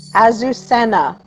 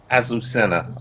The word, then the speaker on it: Azucena: pronounce her name? Azucena. Azucena.